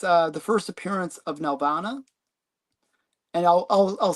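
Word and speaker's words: Nelvana: Um, but you know, it's uh the first appearance of Nalvana. And I'll I'll I'll say it for Stephen Nelana. Just so he he really he he always complains that I never pronounce the L, but I I do.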